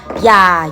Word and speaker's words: อย่า: ยักษ์ บ้าง นะ คะ คำ ที่ มี พยัญชนะ ตัว หน้า เป็น อ่าง นำ ด้วย ยอ ยักษ์ ไม่ ออก เสียง on แต่ เสียง วรรณยุกต์ ของ พยางค์ ออก เสียง โรง เรียน ชนะ ออ มี 4 คำ ได้ แก่ อย่า อยู่ อย่าง อยาก จะ ให้ ดี นะ